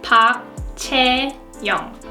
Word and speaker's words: Chae-young: is pop loaded no her birth name is pop chae-young pop J you know I think she'll matches